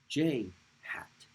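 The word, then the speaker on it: ĵ: the plus x direction next unit vector is pronounced its name is pronounced j hat i'll write it over here j but without it no don't put a dot on top put a carrot called a hat j hat and it is a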